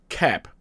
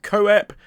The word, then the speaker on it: Koepp: It is pronounced Koepp, not Koepp, and it's certainly not one of those names where you pronounce the letters the wrong way around, like Phoenix, so it isn't Keop either.